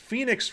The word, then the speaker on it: Fenyx: Immortals Fenyx Rising. Phoenix is spelled Fenyx. It's spelled that way, not the way you probably are thinking.